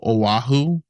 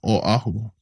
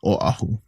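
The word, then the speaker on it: Oʻahu: a W they go aahu aahu but just know that there's a okina between the O and the a so that shows it's a Oahu you know Oahu so just make sure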